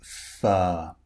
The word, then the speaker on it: fur: contained the r sound but in all the cases the r is unpronounced because the r comes before a consonant okay a consonant sound or it comes at the end of a word like fur if you are fur